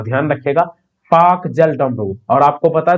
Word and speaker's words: Palk: इसका स्पेलिंग देखिएगा, अगर PALK होता है, लेकिन एल जो है साइलेंट रहता है, इसे पढ़ते हैं पाक।